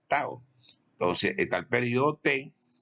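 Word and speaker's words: tau: letra que está aquí una letra griega se pronuncia Tao Entonces está el períodonte y está el medio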